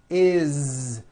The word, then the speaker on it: is: not is on voice it's pronounced as if it were a z is this is good you